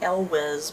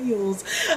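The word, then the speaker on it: Elwes: used to pronounce it el juez but someone told me it's like mules or something um so yeah this is nonfiction about the making of The Princess Bride by Carrie eul's I love The Princess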